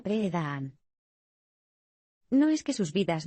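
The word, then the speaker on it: Pirahã: Este es el caso de los Pirá, que se pronuncia Pre-Daan.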